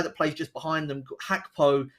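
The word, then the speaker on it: Gakpo: plays just behind them hackpo spelled um with a G so it's g-a-k-p-o but pronounced hackpo he um has been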